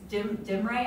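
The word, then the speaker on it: Demre: that he's buried over in Myra and it's dim Ray I'm not sure how to pronounce it it's d-e-m-r-e turkey his remains are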